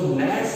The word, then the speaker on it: gnat: उसके बाद क्या आता है कि जो नैट्स हैं, स्मॉल नैट्स, GNAT, इसमें जी साइलेंट है, नैट होते हैं छोटे